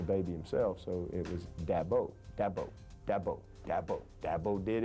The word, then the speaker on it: Dabo: Dabo Sweeney is how you pronounce my name, and I've had that my whole life.